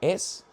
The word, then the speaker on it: Whills: Whills is spelled Wills.